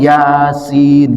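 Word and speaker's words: يس: Kalau kita baca Yasin itu hurufnya ya dan sin. Kita bingung kalau enggak ada guru dibacanya yas, yus, yis, yesi atau apa gitu ya kan hurufnya ya sama sin. Tapi tidak ada yang salah baca Yasin. Karenapa? Karena kita dapat guru yang ngajarin ini diucapkannya Yasin gitu kan.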